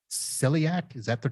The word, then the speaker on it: celiac: that there's a disease attached to this called celiac. Is that the correct pronunciation?